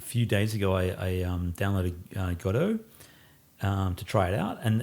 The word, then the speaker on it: Godot: days ago I downloading cut-o to try it out and and for those who don't know what that is Godot gato how we pronounce it it's an open-source framework